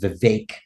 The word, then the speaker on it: Vivek: the correct way to say my name is Vivek if you don't I apologize no no no